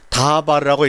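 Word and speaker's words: דָּבָר: 그래서 이것은 다바르라고 읽고 요것은 데베르라고 읽는데 데베르라고 이름을 할 때는 이것은 말씀이 아니라 전염병이라는 말이 됩니다.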